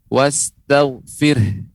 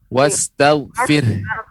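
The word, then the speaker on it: وَاسْتَغْفِرْهُ: Kita berikan huruf H di ujungnya. Wastaghfir. Nah, ini Al-Quran kan bergerak ini, Nek. Wastaghfir. Karena ada huruf H-nya.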